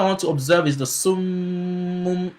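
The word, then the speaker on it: صُمٌّ: So I was pronouncing the Meem, pronouncing one silently and pronouncing the other one with Dhamma. And I was adding Ghunna. So you see the Ghunna is pronounced with your khayshum, right? With your khayshum, with your nasal cavity.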